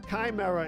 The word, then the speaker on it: chimera: up right which I think it's Chimera Chimera Kimera oh man I wish I knew how to pronounce things Chimera is the proper pronunciation right um all right